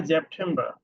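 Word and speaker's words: September: তারপরে কি আছে সেপ্টেম্বর, সেপ্টেম্বরকে বলে জেপ্টেম্বর। জেপ্টেম্বর স্পেলিং সেম বাট প্রোনাউন্সিয়েশনটা একটু ভিন্ন। তারপর আছে অক্টোবর, অক্টোবর।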